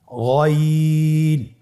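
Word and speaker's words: غين: আমরা অনেকে বলে থাকি গাইন, না, এটা ভুল উচ্চারণ। এভাবে উচ্চারণ করা যাবে না, যেহেতু হরফটি মোটা, এই জন্য মোটা করে উচ্চারণ করতে হবে গইন।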